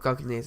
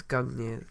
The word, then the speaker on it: Gungnir: It's not Gungnir's, it's Gungnir's.